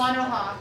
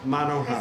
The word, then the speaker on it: Monoha: is on what's it pronounced? Monoha. Monoha.